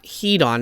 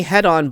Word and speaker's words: Hedon: there was a point when I was playing head-on blood right yes it's headon not Heaton as I was saying in my last video